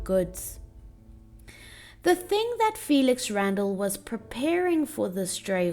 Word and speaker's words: Randal: Notice that the last word of the poem is sandal, and this final word rhymes with Randall, thus linking the man's name, Felix Randall, with his profession of fitting horses' sandals or shoes.